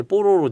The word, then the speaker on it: 뽀로로: 발음 좀 어려워요. 뽀로로라고 해야지. 네. 빨리 발음하면 좀 야할 수 있어요. 그래서 예전에 이거 창작자가 처음 이 애니메이션 만들었다고 소개하는데 이게 제목이 뽀로로입니다. 그랬더니 얘 뽀로노라고.